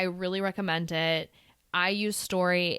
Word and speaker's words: Storey: I put it on, this one that I use is called Story. It's kind of spelled like STOREY.